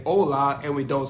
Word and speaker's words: hola: H or La Ace in Spanish you're not going to pronounce the h so that's the reason why we say hola and we don't say hola so I don't think